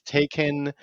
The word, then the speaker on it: Taycan: Everyone says Taycan. It's tie, like you're wearing a tie, and then a con, like a conference for ties. It's a tie conference. Taycan.